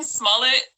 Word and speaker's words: Smollett: How you pronounce his last name? Smollett.